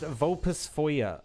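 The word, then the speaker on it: Vulpisfoglia: It's pronounced vulpus foyer or foyer. So, the L and I are also kind of silent. They're like weirdly mixed together.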